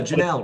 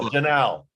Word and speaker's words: Janal: name is janal he's an amazing guy did i pronounce your uh your name last name correctly yeah janelle rhymes with canal it's a lot easier now janelle i got it okay